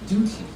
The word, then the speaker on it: duty: It is pronounced with a liquid U. Duty. Oh, duty.